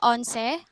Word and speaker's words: Onse: please here is the onse islas zamboanga peninsula is becoming a known destination for beachgoers because of this emerging eco-cultural tourism destination known as the onsi islands pronounced as onse the onset is a